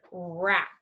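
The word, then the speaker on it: wrap: gonna try the WR we have the word rap which letter do we not hear in the word rap yeah we don't hear RW so same thing when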